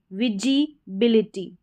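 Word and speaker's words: visibility: को वी पढ़ा है इसमें एस आई को जी विजीबिलिटी तो इस एस को जो है यहां पर बिंदी लगा दें ज करके प्रोनाउंस करेंगे हम विजिबिलिटी ज क्योंकि एस के दोनों तरफ कसोनेंट नहीं यहां यहां पर दोनों तरफ स्वर है यानी कि वाऊ लेटर है।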